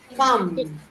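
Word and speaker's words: thumb: ना थम थम नहीं थम थमस थम थम इसमें एक्चुअली जो बी होता है ना वो साइलेंट हो जाता है तो इट्स थम ठीक है थम तो साइलेंट हो जाता है।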